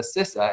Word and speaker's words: CISA: But in short, they kind of stand for, so it's a group called ISACA, and the CISA, as it's pronounced, is a Certified Information Systems Auditor.